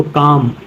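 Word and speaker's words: calm: चाक पढ़ते हैं एम से पहले एल इसको काम बाम पाम पढ़ते हैं फिर नेक्स्ट वर्ड आ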